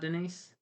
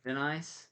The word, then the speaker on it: Denis: uh, Is it not Denise? no, Denise? Denis, Denise? Denis, like Denny.